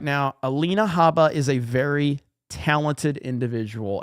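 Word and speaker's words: Alina Habba: Legalize adulthood says, you're mispronouncing Trump's lawyer's name. It's Alina Hubba, ultra mega maga baby. Let's go. Look, man, I'm just telling you right now, Alina Haba is a very talented individual, and I respect her, okay?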